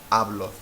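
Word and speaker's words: hablo: or n or S this is pronounced ablo which means I speak ablo it has to be pronounce ablo because there's no accent no written on this word it has to be ablo well then how would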